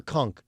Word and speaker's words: conch: Who's got the conch? Conch or conch? I think it's conch. It's a conch, right? It's spelled like conch, but it's conch.